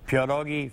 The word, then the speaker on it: pierogi: Now, you gave me a pronouncer here. I keep saying pierogi, but tell me the right way. You're close. Pierogi Festival.